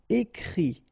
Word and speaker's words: écrit: Okay, and then the IT, phonetically you pronounce I because final T is not pronounced, but still. Écrire, to write, écrit.